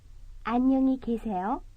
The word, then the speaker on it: 안녕히 계세요: The difference between the two is only one syllable, ka versus ke. 안녕히 가세요. 안녕히 계세요.